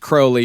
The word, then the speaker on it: Crowley: It's actually It is It is pronounced Crowley. You're supposed to say Crowley, but come on, Mr.